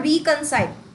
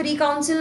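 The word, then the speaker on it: reconcile: और रिकंसाइल। तो सबसे पहली बात रिकउंसिल नहीं होता।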